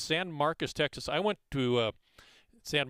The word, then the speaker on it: San Marcos: And I think it is pronounced San Marcos in California, but in Texas it's San Marcos.